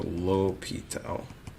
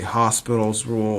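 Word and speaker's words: L'Hôpital: Most people say Hospital's rule or L'Hopital's rule rule the L sometime is omitted. Um most people pronounce it wrong uh or add an S after the O.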